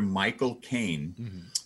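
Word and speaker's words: Michael Caine: friend of mine once taught me how to say the name michael kane the actor michael kane the way to do it is to say the words my cocaine my god mike okay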